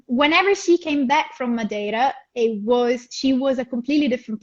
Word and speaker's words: Madeira: Do I pronounce it right? Madeira? Madeira.